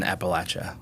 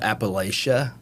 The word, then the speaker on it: Appalachia: grew up in in Appalachia right which by the way is how you say it it's it's not Appalachia people tell me I'm